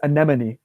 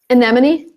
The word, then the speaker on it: anemone: difficult it's pretty straightforward the e is an a sound and then the other